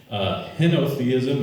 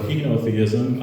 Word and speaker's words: henotheism: word for the week henotheism or henotheism i looked it up i had the little youtube thing pronounce it for me and i got both options so it's either henna or hino theism the belief that there